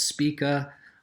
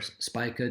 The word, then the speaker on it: Spica: And as we go up to stars as luminous as Spica, or Spica, depending on how you pronounce it, then you see that these stars